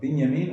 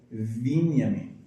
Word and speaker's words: Binyamin: But in Hebrew, it's Bin, or Binyamin, or if there's a vav before it, it's Vinyamin. There should be an I, if pronunciation is correct.